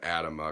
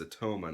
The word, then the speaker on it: Atoma: that in the video I accidentally said Adama because I didn't know how to pronounce it then everybody else was saying atoma and I was like oh it's atoma not atama okay all righty oh